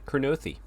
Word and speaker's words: Kurnothi: Yeah, Kurnothi.